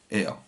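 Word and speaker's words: ער: Er. Ça s'écrit Er, ça s'écrit Aïn Resh.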